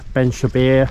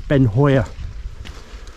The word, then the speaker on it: Beinn Chabhair: up the middle towards ben shabir i think the proper way of saying is ben hoyer uh the proper pronunciation